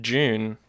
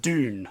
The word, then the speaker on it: Dune: So you know how Dune is pronounced Dune? I thought it was pronounced June. No. It's actually pronounced Dune. Oh. Isn't that right, Jack? Yeah, so it's pronounced Dune. Dune. But I like the way you say June better. It sounds better. June. So yeah, June. Not June. Not like the month of the year.